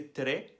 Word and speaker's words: très: É como se fosse très, só que não rolem o R, falem igual um carioca mais uma vez.